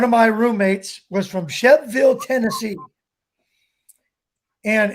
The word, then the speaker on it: Shelbyville: my roommates was from chef ville to see and it's felt Shelbyville but they pronounced Chef Ville Tennessee and his dad sent